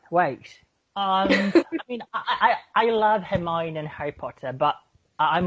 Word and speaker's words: Hermione: Well, I thought at first it was pronounced Hermione.